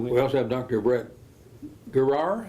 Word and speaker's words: Guerrar: Brett Guerrar. How do you pronounce it? Guerrar. Okay. Yes. Guerrar.